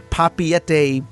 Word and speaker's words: Papeete: And I've been corrected to make sure that I pronounce the Papeete Bay Veranda.